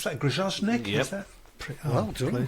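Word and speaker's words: Grajczonek: How do we pronounce that? Grozovnik.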